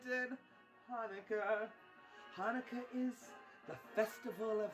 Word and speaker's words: Hanukkah: It's not pronounced Chanukah. The sea is silent in Hanukkah.